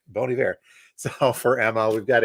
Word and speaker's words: Bon Iver: Don't get this name wrong. It's Bon Iver. I said Bon Iver once, and I got rid of the got that Midwest in me, and somebody corrected me.